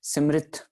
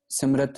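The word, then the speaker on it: ਸਿਮ੍ਰਿਤਿ: और साथ ही साथ वेद पुराण सिमृत, सिमरत नहीं, ठीक है। ररे के साथ स्यारी भी लगी हुई है, जिसको हम उच्चारण अक्सर औकात नहीं करते।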